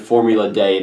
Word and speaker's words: Formula D: And so that is Formula D. Or Day. Like, it's a D. Like, everyone pronounces it Formula Day. Maybe, I think that's the original. I think it was originally called Formula Day.